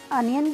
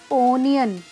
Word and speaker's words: onion: देखिए साउंड तो ओ है इसमें, लेकिन अनियन की जो करेक्ट प्रोनाउंसिएशन अनियन है, ना कि ओनियन।